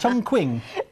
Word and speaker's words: Chongqing: yeah, we head off to, is it, no, my pronunciation may go Go wrong, down. is it Chongqing?